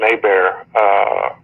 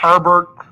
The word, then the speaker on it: Herbert: I don't know where he grew up, but it's Hebert all day long anywhere else in the world, but it's Herbert. Herbert.